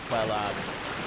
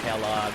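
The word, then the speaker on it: Quelaag: I pronounce it Quelog. I've heard it pronounced Kellogg. I've heard it pronounced Quelag.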